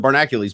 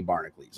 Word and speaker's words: Barnacules: pronounced barnacle ease or inaccuracy so most people pronounce it barnak ulee's but I'm like that if Prince can make himself a symbol I can spell it out where I want and be barnacle ease okay so all it is is two words